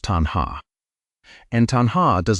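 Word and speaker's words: taṇhā: The Pali word is tanhā. Pronounced tanhā.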